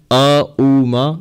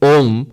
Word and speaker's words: Om: By the rules of Sanskrit grammar, A and U, when you put them together, they become Om. They become O and then Ma. Mm. So Om, that's the correct pronunciation actually.